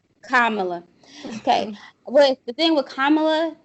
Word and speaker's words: Kamala: with uh how do you say her name carmelo kamala okay the thing with kamala is let's like